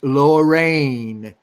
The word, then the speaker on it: Lorreign: cool too and and the comic is spelled L o RR e IG n so it's lower rain and I thought that